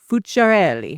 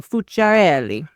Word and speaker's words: Fuciarelli: If they try to add extra syllables or whatever, I say if you shake your hand, it helps. So fereli.